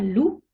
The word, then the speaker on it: loup: le xe et le z par exemple un loup le p ne se prononcent pas il ya des exceptions un ours